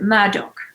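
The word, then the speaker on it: Murdaugh: very prominent family print you pronounce it murdock but you spell it murder m-u-r-d-a-u-g-h uh family of lawyers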